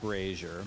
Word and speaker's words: Brazier: It's pronounced brazier, but if we call it brazier, then we can't call it Brazil, right?